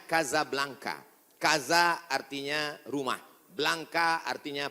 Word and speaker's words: Casablanca: Hasan dua di Kota Kasablanka ibukota Maroko tempat saya kuliah nama negaranya Maroko ibukotanya tulisannya Casablanca cara bacanya Kadzab langka Kaza artinya rumah Blanca